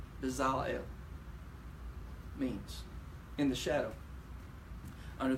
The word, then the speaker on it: Bezalel: Bezalel. Bezalel. The accent is on the second syllable.